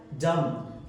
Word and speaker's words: dumb: डम। DUMB डम यानी गूंगा।